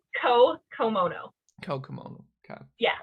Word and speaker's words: Co Komono: you look at the name yeah but it's ko komono kokomo okay yeah it's gonna take me some